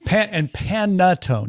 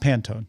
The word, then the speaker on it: panettone: Panettone, not Pantone. Totally two different.